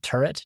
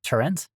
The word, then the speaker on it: turret: It's But it sounds quite distinctly different, right? Turret. Trent.